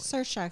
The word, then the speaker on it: Saoirse: It's like Saoirse, sort of like inertia.